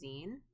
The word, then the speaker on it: zine: always find this interesting nega pulse says it's pronounced zine yes i always think it's so interesting that people don't know how to pronounce it i had so many people yeah when i was doing a lot of cons i had so many people like asking for a sign and that really took